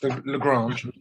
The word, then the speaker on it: Lagrange: you mentioned the lagrange point is that you pronounce it lagrange yeah i i mean it is it's a